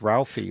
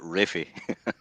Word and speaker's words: Ralphie: The little boy though who plays Ralphie is absolutely brilliant in this film. He does, he was terrific. He's fantastic in it. Yeah. In England, they'd probably pronounce it Raffy.